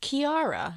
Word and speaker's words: Chiara: My name is Kiara, and thank you for telling me how to pronounce that cuz it's spelled Chiara, and I definitely would have said that had I read it."